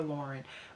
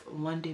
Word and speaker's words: LonDen: She like her name, I never say her name right, so let me go to Instagram because I always want to call her Lauren, but it's LonDen Makeup Artistry.